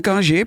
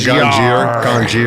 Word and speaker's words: Ganjier: GANJIER. Yeah, like a sommelier. And some people call it GANJIER.